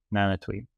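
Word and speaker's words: Nanautavi: So I'm being told that the way to pronounce this that proper way to pronounce this is Nanati. Nanatui.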